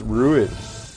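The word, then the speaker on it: Rouen: big conspiracy oh it's it's pronounced ruin yeah ruin miranda anyways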